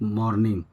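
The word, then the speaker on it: morning: Okay guys since मॉर्निंग अब देखिए लिखा होता है एम ओ आर एन आई एन जी इसको पढ़ते हैं ज्यादातर लोग मॉर्निंग बट यह मॉर्निंग होता है दोस्तों क्योंकि इसमें आर जो है साइलेंट होता है।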